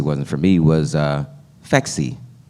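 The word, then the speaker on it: Phexxi: for me was uh fexi supposed to be pronounced like sexy the birth control I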